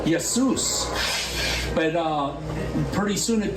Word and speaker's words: Jesus: translation the King James his name was spelled with a Y instead of a j and then when they put the J in there they still knew to call him with a Y sound yesus but uh pretty soon